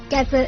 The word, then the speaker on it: DEBRA: Um, the Deborah website, as I said before, Deborah is spelled D E B R A.